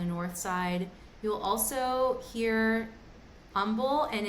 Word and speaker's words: Humble: You'll also hear umble and it's spelled humble but it's pronounced umble. We pretend that the h is not there.